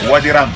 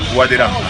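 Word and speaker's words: Wadi Rum: ¿Cómo se pronuncia? Wadi Ram. Wadi Ram.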